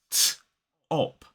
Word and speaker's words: top: top t o p we aspirate that t so it's t op top so there is a blast of air that comes from that t with that t sound now let me show you what I mean what we need is a piece of paper top top you can see the page moving and that's because when I say the T sound I'm blowing air through that sound that's aspiration top on certain sounds